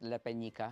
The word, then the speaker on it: La Peñica: what uh La penica so and do I pronounce it right Le penica it's great it's correct actually it has uh